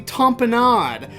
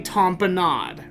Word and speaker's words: tamponade: is the rapid emergency tamponade right well that is spelled tampon aid like gatorade tampon aid which i guess it